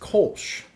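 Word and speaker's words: Kölsch: Moving on, fun fact for the Kolash talk is that it is pronounced Kolsch when talking about a singular one, and Kolashe when talking Kolachi.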